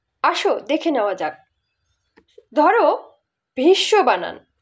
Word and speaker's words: ভীষ্ম: শয়ে ম ফলা আছে, কিন্তু আমরা উচ্চারণ করি ভীষ্ম, ভীষ্ম কিন্তু বলি না। আবার গ্রীষ্মকাল বলি, গ্রীষ্মকাল কিন্তু বলি না, বলি গ্রীষ্মকাল। তাই বাংলায় এই যে ম ফলা উচ্চারিত হয় না।